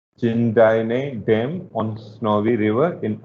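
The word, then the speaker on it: Jindabyne: This is जिंदाइने dam over snowy river Australia. B को आप silent रखेंगे तो इसको पढ़ पाएंगे थोड़ा सा, otherwise these are difficult to pronounce. जिंदाइने डैम on snowy river in Australia.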